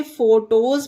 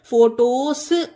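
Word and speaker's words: photos: ई है अब इसमें देखिए फोटोज में एस से पहले ई है तो इसे फोटोज पढ़ा जाता हैगा इसे फोटोस सा नहीं पढ़ेंगे इसे एस को जा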